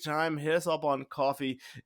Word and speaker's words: Kofi: If you're having a great time, hit us up on Coffee. It's spelled Kofi, but it's Coffee.